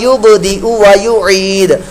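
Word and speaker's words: يبدئ ويعيد: انہ ہوا یبدئ ویعید، یہاں غلطی آپ او پر جا کر زیادہ کریں گے، لوگ یبدئ کر دیں گے، او کو لمبا کر دیں گے، واو مدہ بنا دیں گے یا الٹا پیش بنا دیں گے تو یہ غلط ہوگا۔ آپ نے او کی ادائیگی کرتے ہی آگے واو پڑھنا ہے، یبدئ وا، یبدئ وا، یبدئ ویعید، وہو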